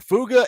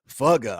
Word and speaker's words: FUGA: fuga shirts are here fuga f-u-g-a somebody said I should say fugga I don't know how you say it but it's fuga uh the shirts are